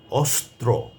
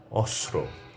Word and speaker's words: অস্ত্র: এমন একটি শব্দ হচ্ছে অস্ত্র। লক্ষ্য করুন যে এখানে দন্তস্য আছে, ত আছে তারপরে রফলা আছে। তিনটি বর্ণ একসঙ্গে যুক্ত হয়েছে। কিন্তু কেউ কেউ বলেন অস্ত্র।